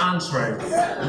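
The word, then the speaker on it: entrée: It's pronounced entree.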